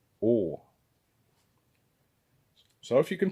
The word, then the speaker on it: å: And this one here is å, like in pour, or ball, or short, å.